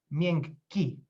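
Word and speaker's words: miękki: the palatal sp uh a contrary example is the word mienki which means soft or uh unintended palatal uh which is uh pronounced as ming ki so the k is parallelized and the i pronounced because otherwise there would be a quite a mess i mean we'd be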